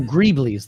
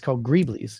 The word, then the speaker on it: greeblies: How do you pronounce that? Let me know in the chat. I'm looking over here. Oh, greeblies. There you go, Brian. Appreciate it. It's called greeblies.